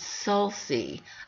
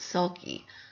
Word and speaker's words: sulci: is is uh singular i just checked with alexa to see how you would say the plural of s-u-l-c-i and she pronounces sulci i always pronounce it sulky so there you go who's right me or alexa now moving down to